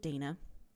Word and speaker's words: Dana: And then after I sent that, and Anna had responded saying she pronounces it Dana, I got to thinking, I didn't ask Anna how she pronounces her name.